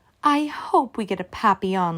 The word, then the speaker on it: Papillon: hope we get a Papillon like our neighbor's dog you say it like this Papi yawn in French it means butterfly I help Mrs Devine